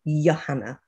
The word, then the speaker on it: Johanna: a y sometimes um it's written with a j so if i'm in broadcast i will say yahana oh so but call